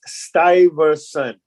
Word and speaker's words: Stuyvesant: And the pronunciation of the name of the town, I want to mention to everybody, is Stuyvesant.